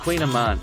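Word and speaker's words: kouign-amann: no diet food pronounced queen of man cohen a man wouldn't be one of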